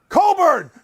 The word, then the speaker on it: Cockburn: we find out the correct pronunciation for kofi cockburn coburn i got wait it's the sid staff of illinois on the line coburn coburn coburn thanks arkey you're the best thanks